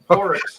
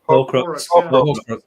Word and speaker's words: Horcrux: Horrocks. How do you say it? Horrocks. Horrocks? Horcrux. Horcrux, Paul's stag do crew arrive in style.